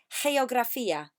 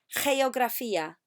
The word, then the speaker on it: geografía: Ahora, remember, a G in Spanish makes a H sound at the beginning. So I want you to say geografía. Repetid, geografía.